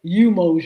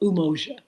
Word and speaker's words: Umoja: Some people say Umoja because of the U, but I believe it's pronounced Umoja Festival, and it's a celebration again in Portsmouth, Virginia.